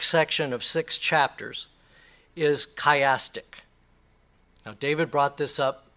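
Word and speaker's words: chiastic: skip this part I guess not okay it's chastic that is it's six chapters form a kaym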